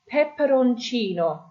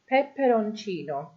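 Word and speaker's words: peperoncino: Then we have pepperonino. Pepperonino. The pepperonino are chili peppers. Okay, you can see the I there is your stress.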